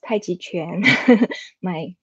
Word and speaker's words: Tai Chi Quan: So most of people call that Tai Chi, but the real pronunciation is Tai Chi Quan. my master will wake our heads if we say it's Tai Chi. He wants us to say Tai Chi Quan.